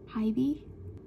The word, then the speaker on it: HYBE: How do you say HYBE? HYBE? HYBE? HYBE? HYBE. HYBE. Which makes sense because it's a hive.